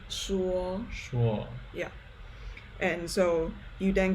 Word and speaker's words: 说: That's pronounced 诗乌欧说说 Yeah.